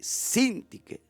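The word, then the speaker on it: Síntique: pasando bien esta mujer sin ti que con acento en la y sin ti que en el griego es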